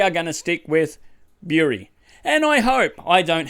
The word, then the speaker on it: Bury: It should be pronounced bury, as in digging in the ground and burying something, because that's how it's spelt. Well, there's also other berries, but that's spelt differently. However, we don't sit on a jerry, we sit on a jury.